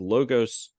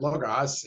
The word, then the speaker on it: Logos: Tom was the superintendent of Logos. I mispronounced that. It's Logos. How do you pronounce it out there? Logos.